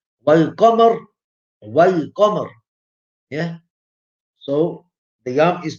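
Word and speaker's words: والقمر: Like Wal Qamar. Yeah. So the yam is pronounced.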